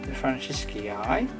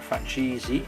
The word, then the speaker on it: Francisci: That's the Francisci, or Francisi, however you want to pronounce it, named after a Francis anyway.